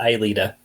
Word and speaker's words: Aelita: And it's pronounced Aelita.